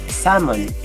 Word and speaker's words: salmon: The same with salmon.